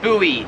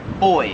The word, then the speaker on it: buoy: yeah pew pew puma number four is buoy or as they say in australia boy like the little thing that floats in the water we pronounce that buoy here in australia they pronounce it like boy and girl kinda yeah same thing